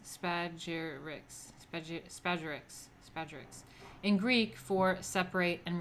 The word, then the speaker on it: Spagyrics: Thus, the aspiring alchemist seeks to separate these three parts and recombine them, giving rise to the word used by Paracelsus, Spagyrics, pronounced Spagyrics, in Greek for separate and recombine.